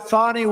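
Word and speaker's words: Fani: been destroyed because of fonny f a n i fny you have to pronounce it fonnie it's called Fanny you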